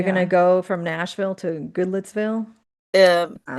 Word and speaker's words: Goodlettsville: gonna go from Nashville to Goodlettsville. Um, Wow. it's Yeah. Goodlettsville. Yeah. But I- Goodlotsville. Sorry. For the record, Goodlettsville.